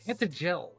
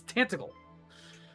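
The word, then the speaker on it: Tantegel: is What the where you fuck will is that find pronunciation? the Dread Ew. Lord of the Underworld. Tantagel. Ugh. It's Tantagle.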